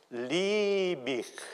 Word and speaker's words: Liebig: una i lunga e la IG finale che diventa una H con articolazione fricativa alveo palatale sorda quindi una volta per tutte lib questo valga come scusante